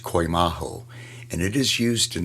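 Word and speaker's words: κοιμάω: The original Greek word used for sleep is pronounced koimaho, and it is used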